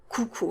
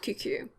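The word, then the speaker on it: coucou: there it is someone you want to say cuckoo not cucu como escavo vuza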